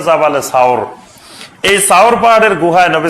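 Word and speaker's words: جبل ثور: সাওর পাহাড়ের এখন যেটা জাবালে সুর বলে, জাবালে নূর আর জাবালে সুর, এই জাবালে সুর বা এটা শুদ্ধ উচ্চারণ হলো জাবালে সাওর।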